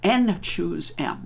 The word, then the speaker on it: n choose m: And this is called n choose m, which is the way that's pronounced.